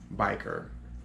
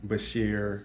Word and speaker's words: bichir: I said or knit repetitively but it is pronounced ornate biker or Bashir dinosaur however you want to use that term